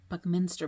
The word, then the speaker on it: Buckminster: book Meister boy is how you say it Buckminster boy by Gary D Smith honor Newbury honor